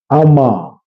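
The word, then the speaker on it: Armagh: love to be linguistic I'm from I'm from Amaga in Ireland. It's pronounced uh Amma.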